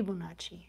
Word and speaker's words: Fibonacci: Fibonacci. No, it would be Fi if it's Italian. It would be Fibonacci. Fibonacci, because the vowels are soft. In Italian, just like Spanish.